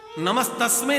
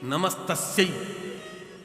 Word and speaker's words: नमस्तस्यै: तो पुल्लिंग उच्चारण कर रहा है। नमस्तस्मै नहीं है, नमस्तस्यै। तस्मै पुरुष के लिए और तस्मै स्त्री के लिए लगता है।